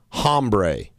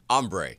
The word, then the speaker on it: hombre: bro, or get this, hombre. Hombre. Hombre. The H is silent.